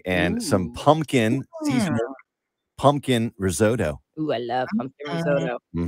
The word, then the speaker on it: risotto: doing good is it risotto or risotto results you gotta you gotta say it like you know the language that it's it's from I mean it's Italian hold on a second